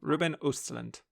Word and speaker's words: Ruben Östlund: Yes, and shout out to Allison Williams for correctly pronouncing his name during all of the announcement nominations. Good. Ruben Östlund.